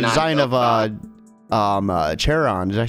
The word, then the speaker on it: Charon: of uh um uh charon did i say that right yeah no i think it's uh karen i like it's kind of pronounced like caron i want to speak